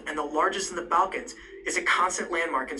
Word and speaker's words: Balkans: Okay, something, now, some people said that, it's Balkans and not the way I pronounce it. Now, my A's sound kind of different. I know it's it's an A there, but it sounds like I'm saying Bul, B-U-L, but I'm actually saying Balkans.